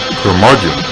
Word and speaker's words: Curmudgeon: Curmudgeon rhymes with bludgeon.